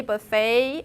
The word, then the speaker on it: buffet: true but just remember in most cases in in in in french especially those sur and t sounds when they're in isolation you don't pronounce them that's how you get filet buffet and depot and the the the